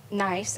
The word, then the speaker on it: NICE: So NICE, and it's pronounced NICE, N-I-C-E, but we are a statewide partnership and a resource for all things related to employment.